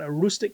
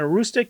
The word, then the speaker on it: Aroostook: So in northern Maine, you got Aroostook County in kind of most of the northern